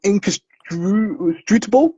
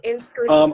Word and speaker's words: inscrutable: And it looks like Sundry's written down inconstrutable. Is that correct? Mm-hmm. I can't say it either. Um, yeah, no worries. Inscrutable.